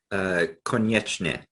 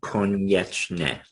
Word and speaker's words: Konieczny: Konieczny. Yeah. It's a Polish last name, Konieczny.